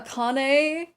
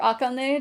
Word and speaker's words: Akane: I'm voicing uh Aane or Akane, depending on what pronunciation you want to use.